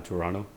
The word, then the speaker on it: Toronto: to a club downtown Toronto. So, Toronto, we don't pronounce the second T in Toronto, by the way.